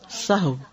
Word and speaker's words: سہو: سب لوگ اپنا تلفظ بھی درست کر لیں. سہو جیسے لغو، ٹھیک ہے، کرب، نفس، سہو.